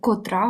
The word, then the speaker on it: котра: час Нам треба спитати Котра година тобто не скільки годин а Котра година з наголосом сюди котра котрий котрі тобто завжди наголос на другий склад отже Тепер будемо рухатися